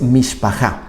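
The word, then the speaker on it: מִשְׁפָּחָה: La palabra es mishpachá.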